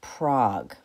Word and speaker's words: PROG: So you can remember all the parts of an operon with the acronym PROG, but not spelled like the city. It's spelled like frog.